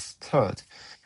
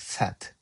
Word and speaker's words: third: And finally, my pronunciation of third sounds like set.